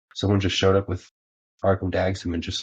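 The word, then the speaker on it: Arcum Dagsson: Like the One Ring just fueled like a bunch of the like probably one of my favorite decks, Arkham Dagsum. Is that how you pronounce it?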